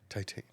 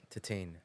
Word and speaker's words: Titane: had me watch Titan titane that's not how you say it by the way what is it it's a Tian tiane tiane because it means titanium I believe it's French for titanium so I had no